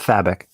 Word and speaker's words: Fabok: We're going to go with Fabok. I'm pretty sure somebody in the live chat will correct our pronunciation. Justin knows. What is it, Justin? It's Fabok. Fabic. Yeah.